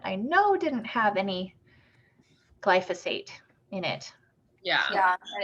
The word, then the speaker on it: glyphosate: glyphosate stuff yeah glyphosate i've been saying it wrong for like years and years and so now i'm trying to figure out how to say glyphosate glyphosate see because i thought it was lycophosphate i was like trying